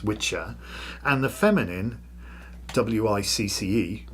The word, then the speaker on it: wicca: At this time the English language had gender and so there were two words the masculine witcher which is wicca pronounced witcher and the feminine wic pronounced witch. So witcher and witch.